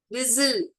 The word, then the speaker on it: whistle: whistle, whistle, T is silent.